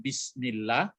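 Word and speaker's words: بسم الله: pekerjaan di awal pekerjaan bismillah jadi ditekan saja bacanya bisa aslinya sebenarnya di Ismi Hai atapi dia hamzahnya tidak dibaca bisnis itu makanya seperti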